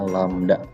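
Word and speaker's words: lambda: dengan huruf Yunani ini nyanyi dibacanya landak ini dibacanya lamda ya adalah simbol untuk panjang gelombang yang dimaksud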